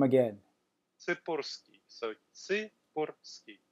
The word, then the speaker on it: Tsipursky: Tsipursky. So, Tsipursky. Tsipursky, with the little roll.